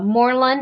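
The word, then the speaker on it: Morlun: also want to see the uh inheritors uh moreland is how you pronounce it and spider-gwen yeah i would be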